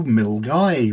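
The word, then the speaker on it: Milngavie: Last weekend, we went up to Milgai, which isn't pronounced the way it looks.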